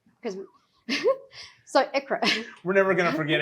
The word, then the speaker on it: ICHRA: So some people pronounce it ICHRA or ICHRA. That's what I go with. I'm not saying it's wrong, but it's actually pronounced ICHRA.